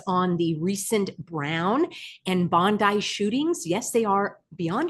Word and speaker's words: Bondi: Friends, you're asking me for my analysis on the recent Brown and Bondi shootings. Yes, they are beyond absurd, and that's how you pronounce it, Bondi, not to be confused with Pam Bondi, although